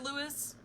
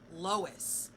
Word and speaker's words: Lois: are you feeling better louis louise why can't i never say your name it must be lois that's it i have to remember you like lois lane right am i saying